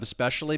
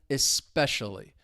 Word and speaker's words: especially: Just keep in mind the stress is on that second syllable, especially.